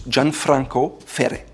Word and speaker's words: Gianfranco Ferré: Italian, and the R here are pronounced at the front of your tongue. So it's Gianfranco Ferré. Gianfranco Ferré.